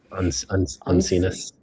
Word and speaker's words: uncinus: And here's some cirrus uncinus. What is that? How do you guys think we pronounce this? Uncinus. Uncinus.